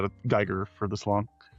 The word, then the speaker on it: Giger: Giga? How is that pronounced? Giger.